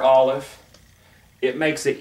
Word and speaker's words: Aleph: we did, has no, Aleph is silent. It makes no sound. But Aleph, like the letter Ayin, it's given a sound by the vowel marks.